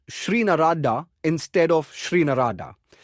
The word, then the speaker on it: Narada: You wrote Shri Narada instead of Shri Narada. It's a long I in Shri, not a short I, a small thing.